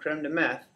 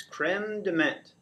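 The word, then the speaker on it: crème de menthe: is called creme DeMint so the H on the end of this is silent this is not creme Dem meth okay this is creme DeMent and this is your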